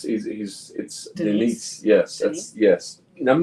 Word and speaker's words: Denis: But the director was Dennis? No, it's Denise.